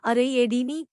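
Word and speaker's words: Ariadne: जब एथेनियाई लोगों को ले जाने वाला जहाज क्रेते पहुंचा तो मिनोस और पासिफे की बेटी एराड ने, उच्चारण अरेयेडीनी, को थेसियस से प्यार हो गया।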